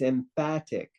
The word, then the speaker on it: emphatic: know but it's not it's emphatic because in English pH is pronounced F so if it was